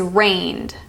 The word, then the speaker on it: rained: Next one is rained, rained. That is the D sound because the root word ends in N.